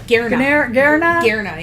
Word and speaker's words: Ganera: I don't know if that G is silent. Hera? Garna, yeah, that's how Garna.